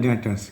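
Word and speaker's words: debtors: इवर्स उसके बाद है डेटस इस ब बी साइलेंट होता बी को नहीं इस डेट डेटस टस उसका दूसरा नाम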